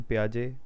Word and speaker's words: Piaget: सबसे पहले जो हैं वो जेन पियाजे, यहाँ टी जो है साइलेंट है।